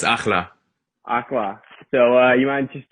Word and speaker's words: Akhla: Obviously you got your single Friday, Akhala. Is that how do you say it? Yeah, it's Akhla.